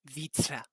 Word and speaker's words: Vitra: You You can just say Vitra. Vitra.